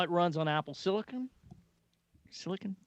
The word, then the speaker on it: silicon: runs on apple silicon silicon i never know how to pronounce that i know it's not silicone anyway so it comes